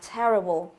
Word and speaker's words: terrible: Ở đây chúng ta có đuôi able này, thì trọng âm là sẽ dâm tiết trước đó là dâm vào te. Như vậy từ này trọng âm thứ nhất đúng không?